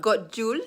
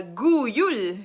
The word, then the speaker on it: god jul: god jul god jude it's g-o-d-y-u-l it's not god jewel it's a gu yule so j the letter j is not pronounced uh it's not pronounced as j is pronounced as y like yul guyul so linda actually told